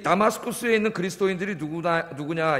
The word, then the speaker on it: 다마스쿠스: 여기 지금 바울이 이 잡으러 가는 다맥색, 원래 이제 우리말로 다맥색 그랬는데, 원래 이제 다 소리난 발음 하나 읽으면 다마스쿠스죠.